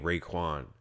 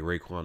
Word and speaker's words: Raekwon: McMillan this is due name Raekwon like Raekwon the chef is dude Raekwon Macmillan your name is spelled exactly like Raekwon that's why I clicked